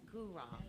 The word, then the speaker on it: Guraw: Yes, Guru.